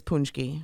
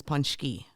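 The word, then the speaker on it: pączki: brand so punchy yeah so the american version is punchy yeah the polish version is punchy and actually i have some i have some wikipedia stuff for you so punchy is actually plural for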